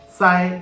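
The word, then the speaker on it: 再: here of course now the pin is Sai with a force tone and the character is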